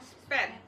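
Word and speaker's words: spuit: Itulah st st sp ya namanya squid tulisannya bacanya spet tapi kalau hanya nanti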